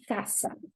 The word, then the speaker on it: casa: Okay, so CA, casa. You see how it's not the S sound, it's K, like casa, casa.